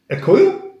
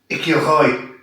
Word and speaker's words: écureuil: Écoile? Écoile? Écoile. Oh la vache. Non. Écureuil.